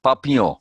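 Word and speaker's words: Papillon: night oh yeah papillion oh papio papio that's how they pronounce it yeah and is it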